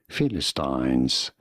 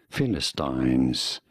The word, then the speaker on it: Philistines: In British English, this is normally said as Philistines. Philistines. In American English, however, this is usually said as Philistines.